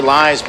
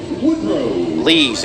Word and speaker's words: Lees: On the play, Lies moves to third, and there's 2 away. Lees, excuse me. Lees, my apologies. Spelled like Lies, but pronounced Lees.